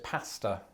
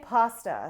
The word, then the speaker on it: pasta: I pronounce this pasta. And I say pasta.